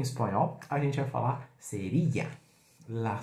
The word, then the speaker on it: cerilla: Bom, fósforo em espanhol, a gente vai falar seria. La seria. Claro que você pode ter pronúncia diferente, depende da região. Serixá, serija, tá?